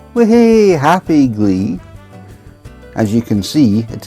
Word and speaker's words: gley: We happy glee. As you can see, it is spelled G L E Y.